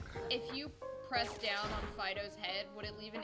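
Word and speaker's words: Fidough: It's Fido, but spelled like dough, like bread dough.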